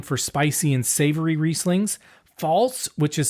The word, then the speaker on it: Pfalz: Pfalz, which is spelled Pfalz, is next, and it's one of the warmest and driest regions.